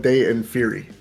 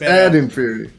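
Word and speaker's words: Ad Inferi: Uh, I like Monstrance Clock and Paraspera Day and Fury. I love that fucking song. What the fuck are you laughing at, jerk off? that's how they say it. No, it's not. It's It's Ad and Fury.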